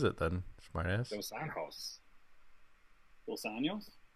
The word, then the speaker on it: Dos Anjos: it is Dos Anjos. What is it then, smartass? Dos Anjos. Dos Anjos? Not Dos Anjos. They pronounced a J as an H in Spanish.